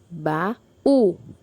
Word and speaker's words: baú: é a última sílaba baú baú foi a sílaba mais forte é a última sílaba por isso oxítona Vamos agora para próxima